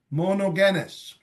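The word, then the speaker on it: μονογενής: English as begotten is monogenes the G is pronounced as in go or G monogenes what does it mean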